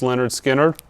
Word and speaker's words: Lynyrd Skynyrd: Lynyrd Skynyrd's, pronounced Lynyrd Skynyrd.